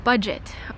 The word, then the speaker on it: Budget: I was so surprised by this because in English it's budget. And then in German, they say it like a French pronunciation. So I guess it's a French word. But they actually, I noticed the Germans pronounce French words just like they do in France, or maybe similar. So they say budget?